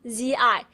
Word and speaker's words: zi: So what you do is put your hand on your throat and start feeling the vibration going through your vocal cords, okay? Z, the kids, z, z, z, z. There you go. Now you're pronouncing zi.